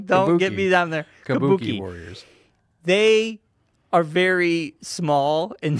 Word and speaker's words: Kabuki Warriors: I did not say you said something I did not say kabo kuch Warriors I did not say kuch you said kabo Warriors anyway now you got have me say it wrong don't get me down